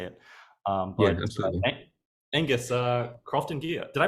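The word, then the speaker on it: Croftengea: jump out and say it um Angus uh crafting gear did I pronounce that right yeah thrifting gear yeah that's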